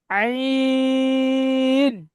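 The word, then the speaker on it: عين: ত, জ, ত, জ, আইন। গলার মধ্যখান থেকে এটা উচ্চারণ হবে, কেমন?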